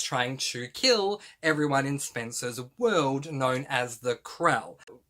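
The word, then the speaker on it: Spensa: that it follows a girl whose name is Spencer, that's spelled S-P-E-N-S-A.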